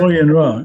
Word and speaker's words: Bo Yin Ra: So Bo Yin Ra. Is that how you say it? Bo Yin Ra, yes.